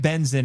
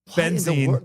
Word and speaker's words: Benzene: It looks like benzin in the subtitles. Yeah. But it's apparently it's actually benzene.